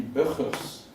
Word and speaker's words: Burgers: a dutch hydrodynamicist called burgers actually buffers if you pronounce it right yeah who proposed in